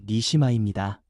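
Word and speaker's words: נשמה: 그리고 생기라는 말은 히브리어 발음으로 니시마입니다.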